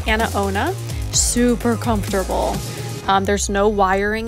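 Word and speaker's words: AnaOno: so this is by a company called a-n-a-o-n-o that's how you spell it so it's anna ona super comfortable there's no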